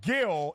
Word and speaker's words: Gil: then you called him Gil. It's Luis Gil is how you say his last name.